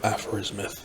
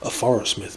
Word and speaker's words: Aphorismyth: pronouncing aphro's myth correctly it's presumably a blending of aphorism and myth so it could be aphro is a myth but that sounds a little too distinctly divided whereas i think shifting that stress a little bit to aphorism sounds more natural as to how a real word would be pronounced and i think it's